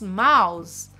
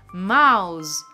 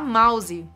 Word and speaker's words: mouse: próximo aqui nós temos mouse mouse mouse prestando atenção na pronunciar essa palavra Você não vai falar mouse tá você não vai falar esse izinho no final Então você vai falar